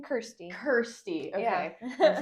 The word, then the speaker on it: Kirsty: Kirsty.